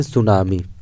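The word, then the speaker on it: tsunami: में क्या कहते हैं सुनामी यहां पर काटे साइलेंट है तू ध्यान रखिएगा तो आपका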